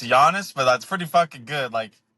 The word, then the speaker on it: Giannis: It's Giannis but that's pretty good.